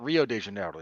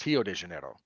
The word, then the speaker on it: Rio de Janeiro: quirk of Brazilian Portuguese words that start with the letter R are pronounced like H's in Brazilian Portuguese they don't actually call it Rio de Janeiro it's hio de Janeiro and normally this wouldn't